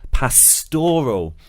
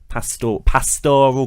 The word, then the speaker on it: pastoral: with par scol yes it's all about the stress because Nikki and I both said Parc or pascol but Rob said pastoral and we're tending to see this shift now towards putting the stress on the second syllable everyone's saying pastor pastoral